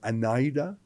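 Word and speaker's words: Anaida: Trudeau sorry Trudeau pv's wife I think I'm pronouncing it right anida PA of a n a DA n a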